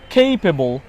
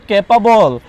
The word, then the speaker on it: capable: ওকে, তারপর বলেন কেপেবল। আমরা কিন্তু এগুলোকে ক্যাপাবল, টেবিল, চেয়ার, হ্যাঁ এগুলো বলে মানে এগুলোর একদম উচ্চারণ নষ্ট করে দিয়েছি এবং এগুলোকে আমরা ভুলভাবে উচ্চারণ করছি।